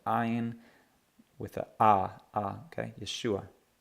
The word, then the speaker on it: Yeshua: and rabbi and Messiah Yeshua Yeshua hear that ah sound at the end that's because there's an iron with uh ah okay Yeshua Yeshua all right so we've